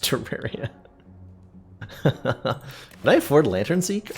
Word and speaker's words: Terraria: deep wand slash spelling system that's awesome it's pronounced Terraria when I afford Lantern seek oh I can